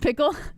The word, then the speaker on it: Pichel: clock what's up Andrew it's pronounced pickle should I pronounce it pickle for the rest of